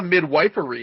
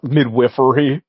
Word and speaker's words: midwifery: Like they're Well, it's not a midwifery if nothing else. I believe it's pronounced midwiffery first of all.